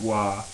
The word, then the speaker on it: Roy: Patrick Wah, his name is spelled Roy, but it's he pronounces it W, right?